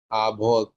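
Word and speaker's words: avis: আভত আভিস কেল আভত, স না ওটা আভিস না, S silent, আভি, আভি, আভি Good.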